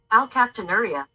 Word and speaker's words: alkaptonuria: Alkaptonuria. No, I was wrong on this one. I called it something else. I got the nuria right. It's alkaptonuria. Let's do it again. Alkaptonuria.